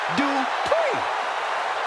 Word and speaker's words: Dupri: Here comes the talented Maxine Dri. Uh, Michael, it's pronounced Dri.